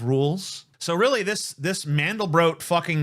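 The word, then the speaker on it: Mandelbrot: of the mandal BR set and it's actually pronounced mandal bro by the way but a lot of people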